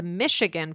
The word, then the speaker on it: Michigan: So Michigan, I put in, but we didn't have a chance to talk about it, but basically it's spelled M-I-C-H, but it's pronounced M-I-S-H. It's actually like Michelle, right?